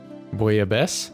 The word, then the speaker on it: bouillabaisse: Bouillabaisse? That's how you pronounce it.